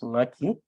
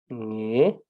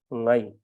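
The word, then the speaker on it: ངའི: So therefore, please never use ngaki, always use nge, nge or ngai. Say nge kangba or ngai kangba or ngai kangba, which will be the correct way to say it.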